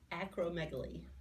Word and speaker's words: acromegaly: Acromegaly. Acromegaly. I had to ask you how to pronounce that because I was looking at it in your notes for me, and I thought, acromegaly?